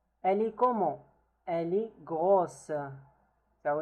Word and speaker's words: grosse: Elle est grosse. So in case it's feminine, we pronounce the S.